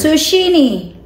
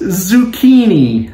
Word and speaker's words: zucchini: last word on here sushini sushini what me honey I am sorry you're dead Sashimi it's uh I always cook right I need to tell them it's pronounced zucchini oh shucks zucchini oh God okay all right 95.